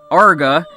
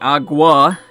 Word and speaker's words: Arqa: second half of Arqa, which I've been accidentally mispronouncing Agua. I mean, I know it sounds like Aqua, but it's not. It's Arqa. Did I just call it Arqa now? It's Arqa with a Q.